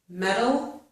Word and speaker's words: metal: Metal, metal, middle. These only differ in the vowel sound when an American pronounces it, okay?